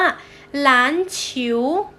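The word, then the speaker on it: 篮球: คะ บาสเกตบอล นั้น เอง ภาษา จีน ออก เสียง ว่า หลาน ฉิว หลาน ฉิว อะเดล เสียง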